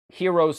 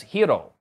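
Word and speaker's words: Hiro: um throughout the movie she actually pronounces hero's name correctly as hio the actual Japanese pronunciation whereas everyone else in the movie including his own family oddly enough pronounces it hero they they used the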